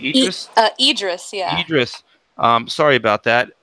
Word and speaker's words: Idris: Is it Ibis? How do you say his name? Idris? Idris, yeah.